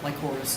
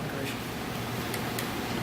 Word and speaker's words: Lycoris: Lycoris, not Licorice. That's Licorice, dude.